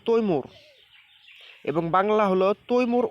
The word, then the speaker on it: তৈমুর: আচ্ছা, 11 নম্বর আছে তাইমুর বা তৈমুর, সঠিক উচ্চারণটা হবে তৈমুর এবং বাংলা হলো তৈমুর ও বিদ্যা মহিলা।